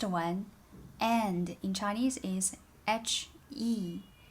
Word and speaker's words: 和: Last one, and in Chinese is H-E. The pronunciation without a tone is he. Think about the second tone, the rising tone.